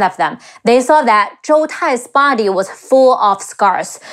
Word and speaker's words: Zhou Tai: Next, we have Zhou Tai, Zhi Ou Zhou Te Ai Tai, Zhou Tai, and his two